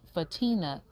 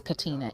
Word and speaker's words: Katina: as well so um oh and fatim fatina am i saying right but how you say it katina is it katina it's katina and um elijah um